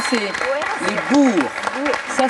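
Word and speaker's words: Boers: se sont-ils laence les burs oui la bonne prononciation c'est les Bours ça s'écrit c'est très bizarre ça s'écrit B O e r s ça se prononce Bour mais c'était la bonne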